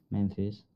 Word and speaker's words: Memphis: Memphis. Memphis. O sea, con, sí. Como una F, ¿no?